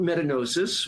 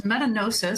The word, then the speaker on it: metagnosis: and the title is metanosis spelled m-e-t-a-g-n-o-s-i-s so it's like diagnosis but metanosis and we can have extensive debates on whether the G should be soft or hard but it's a the